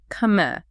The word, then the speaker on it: Khmer: Right, Khmer, pronounced Khmer.